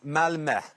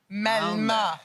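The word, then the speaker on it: Malmö: it's it's always all love and is it pronounced Malmo or malma H it's malma malma oh I like the way you say it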